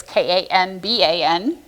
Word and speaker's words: Kanban: One is called Kanban, and I did look it up on how to actually pronounce that word. It is originally is a Japanese word, and it's Kanban in real life.